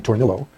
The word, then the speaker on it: Tornillo: And then there's the, pardon me, but the guy pronounces his name Tornillo, the Tornillo case, Miami Herald versus Tornillo, which we will consider next Tuesday or Thursday.